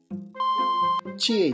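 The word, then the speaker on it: 智永: 智恵と読みます。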